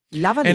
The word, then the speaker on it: lavalier: Lavalier does come from French.